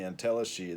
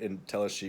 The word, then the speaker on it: entelechy: I kind of overload the word entelechy or entelechy, as it's usually pronounced. That my kind of French reading of it is as entelechy is a way of saying things.